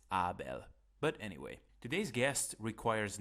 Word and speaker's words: Abel: Hey guys, Abel speaking here. Well, actually, if you want to be precise with the pronunciation of my name, it's Abel.